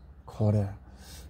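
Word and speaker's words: קורא: 부르는 자, 코레. 부르다, 콜의 히브리어 발음은 콜, 카라. 부르는 자는 코레로 소리낸다.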